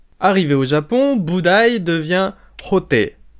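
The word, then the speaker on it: Hotei: au Japon boudaï devient roter à ne pas confondre avec un fameux guitariste roter c'est la prononciation sino-japonaise des caractères de boudaï oh qui veut dire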